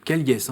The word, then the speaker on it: Callies: Alors votre nom s'écrit plutôt Caliès, c'est ça? Oui, mais ça se prononce Caille.